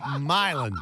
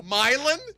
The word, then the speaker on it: Milan: anything but milan tennessee try milan marlin crap are you kidding me no myelin yes that sounds like a